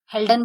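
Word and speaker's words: Haldane: fort and जीबीएस हडाने हेल्डन बोलते हैं हडाने जो भी आप बोल सकते हो मतलब मेरा थोड़ा सा प्रोनाउंसिएशन ऐसे ही हो गया है हेल्डन होता है देखिए कार्लैंड स्टेनर डिस्कवरी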